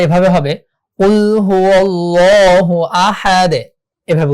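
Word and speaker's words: أحد: কুল হু আল্লাহু আহাদ, আহাদ এভাবে হবে। কেন আহাদুন কেন বলবো না? এখানে আমরা ওয়াকফ করেছি তাই আমরা এখানে জজম ধরে পড়বো।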